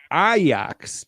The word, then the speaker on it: Ajax: that's right benfica at iox not ajax as you would pronounce it iox as we pronounce it in italy is that how they pronounce it in holland which is what matters darn